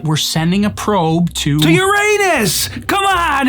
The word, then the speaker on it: Uranus: It's pronounced Uranus or Uranus, not Uranus.